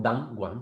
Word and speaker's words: Danone: danón como queráis pronunciar debería ser pronunciada como than one porque era el primero sin embargo la marca o la manera en la que la pronunciamos ha llegado a nuestro mercado oa muchos otros de otra manera y así es como